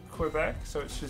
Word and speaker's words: Quebec: starts grant us strength you don't pronounce the U in Quebec so it should sound